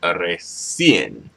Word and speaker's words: recién: Yeah, I think you pronounce it recién, with an emphasis on the en, apenas and recién.